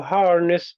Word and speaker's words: harness: Yeah, And which in the word harness, which syllable has all of the attention? har harness Harness. ness Harness. Okay.